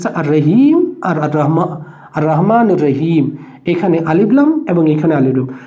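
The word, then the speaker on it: الرحمن: এবং এটা কি করছে দৈত্য চাপ ক্রিয়েট করছে আর রাহমান এইযে আলিফ লাম শব্দটাই তারপরে যে শব্দটা আছে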